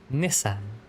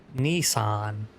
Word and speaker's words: Nissan: Resca, how do you say Nissan? Nissan. Definitely not Nissan, which is probably more accurate to how the Japanese say it, but that's not what we say. Nissan like Roy Nissani.